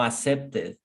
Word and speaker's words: accepted: No, you no accepted. Accepted. Accepted. No accepted. Remember, is id. Id.